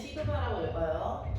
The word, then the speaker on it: 시그마: 다양한 예를 들어서 한번 상황을 살펴보겠습니다 아이 기호는 시그마라고 읽어요 써메이션에서 s를 좀 틀어 놓은 모양이고 시그마라고 읽으면 됩니다 활용하겠다 해서 어떻게 활용하겠냐 자이